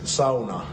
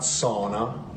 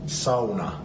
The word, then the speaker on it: sauna: The word is sauna, not sauna or sauna, it's sauna.